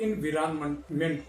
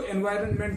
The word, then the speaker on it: एनवायरनमेंट: मैं आपको बता रहा हूँ, कुछ लोग एनवायरनमेंट बोलते हैं, कुछ लोग इनविरानमेंट बोलते हैं। तो बेहतर है कि इसको एनवायरनमेंट ही बोला जाए ताकि भ्रम की गुंजाइश ना रहे।